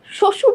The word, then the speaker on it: শ্বশুর: কোথায় নেই বলেন তো শ্বশুর যে শব্দটা আছে শ্বশুরে একদম শুরুতে আছে বফলাটা বফলা যখন শব্দের শুরুতে থাকে তার কোন উচ্চারণ থাকে না বা তার জন্য কোন